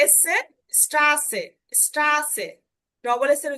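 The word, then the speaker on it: Straße: এই যে এসে, স্ট্রাসে, স্ট্রাসে, ডবল এস এর উচ্চারণটা হবে, অর্থাৎ এস এর মতো উচ্চারণ হবে, এস এর উচ্চারণটা হবে ডবল এস এর মতো।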